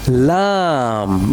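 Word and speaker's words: لام: L sound. Lion. Lam. What is this one? Lam. Well done. Very good. Lam. La la lam like la ilaha illallahu Muhammadur Rasulullah.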